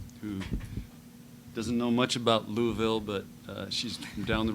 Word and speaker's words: Louisville: Louisville or Louisville? Well, you have to say it like you have marbles in your mouth. Okay, Louisville.